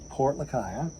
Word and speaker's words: Lucaya: and I poured our drink everywhere we're in Port Lucaya yes he finally said it right I'm so